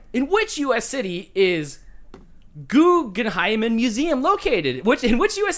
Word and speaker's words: Guggenheim: then like I'm a Guggenheimen. Where'd you think I was going with that? Because now I want to know. You added an extra syllable to the end.